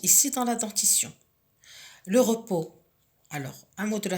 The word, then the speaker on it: repos: Le repos, j'entoure la lettre S qui est la lettre finale muette qui ne se prononce pas.